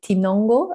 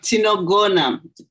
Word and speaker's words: Tinogona: it just, for me, you have this word, tinongo. I don't know if I pronounce it correctly. No, tinogona.